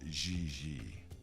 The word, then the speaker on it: JJ: i mean jj gg jj on francais you pronounce g like j and j like g she may very well be jj in america but in france she is gigi how well does she